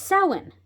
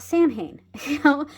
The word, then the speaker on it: Samhain: And it's one of those things where we as a pagan community can come together and say, it's pronounced Samhain, not Samhain, and, a lot of people will be very particular about that.